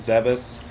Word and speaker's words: Zebes: dimension kind of deal i pronounced it thieves by the way okay yeah i mean everyone's i think the proper pronunciation is zebus but it was more like zeb was if you know what